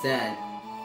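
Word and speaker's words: Tzen: And I even got this new weapon from the item shop in the town of Zen. It's spelled T-Z-E-N.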